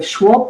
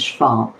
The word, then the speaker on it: Schwab: businesses right so so Schwab talks about sorry I'll use the German pronunciation which is Schwab um he he talks